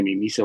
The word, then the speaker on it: Mimica: de colegio Gregorio mimisa se escribe mimica y se pronuncia mimisa un apellido yugoslavo Gregorio mimisa que fue